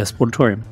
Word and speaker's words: Sportatorium: Yeah, Sportatorium.